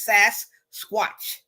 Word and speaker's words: Sasquatch: repeat it one more time how do we pronounce it all right it is SAS Squatch all right got it remember watch watch yeah